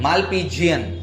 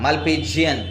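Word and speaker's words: Malpighian: Spelling ठीक है। बोलना मालपीजियन। हां मालपीजियन ट्यूब।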